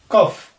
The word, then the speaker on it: cough: Next च, जैसे chair, चिन, फ, जैसे फाइन, फेवरेट, कफ, COUGH, कफ। GH से भी फ साउंड जो है वो बनता है हमारा, तो वो भी हम देखेंगे कि किस स्पेलिंग से कौन सा साउंड सिंबल बनता है।